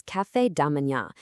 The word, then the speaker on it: café da manhã: it also happens to be our very first pronunciation challenge of this explainer. So, the term you're going to need for breakfast is café da manhã.